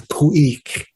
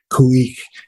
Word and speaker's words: Khu.éex’: The proper pronunciation of the name is Khueex. Khueex.